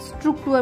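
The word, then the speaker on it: Struktur: नाउ स्ट्रक्चर को German में स्ट्रक्चर बोलते हैं, देखिए पहले स्ट्रुक फिर उसके बाद टूअ, स्ट्रक्चर, ठीक है।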